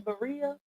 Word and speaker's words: birria: It's I say birria, but Nanny told me it's pronounced birria.